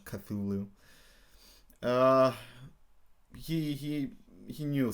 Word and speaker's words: Cthulhu: actually a fun thing Lovecraft didn't pronounce it Cthulhu he actually uh pronounced it kalulu but I don't want to do that so I'm just gonna keep calling him Cthulhu uh he he he